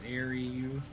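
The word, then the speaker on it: Xiaryuu: how do you say your name x-i-a-r-y-u-u it's Airy you I'm bad with names even in real life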